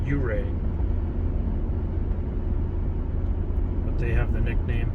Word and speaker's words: Ouray: I mispronounced it earlier. I said Ouray. It's Ouray.